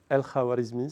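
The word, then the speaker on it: Al-Khwarizmi: Donc le bonhomme qui a inventé les algorithmes, non, c'est pas Gigachad, hein, c'est un autre bonhomme, c'est Al-Khawarizmi, si vous voulez prononcer en arabe.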